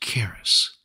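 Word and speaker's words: χάρις: For you see, the Greek word for grace is pronounced charis, which literally means, quote, that which affords joy, pleasure, delight, goodwill, loving kindness, favor, merciful kindness.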